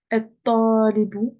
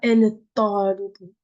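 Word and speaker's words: الطالب: Et talibu, voilà, je dis et talibu, je ne dis pas el talibu.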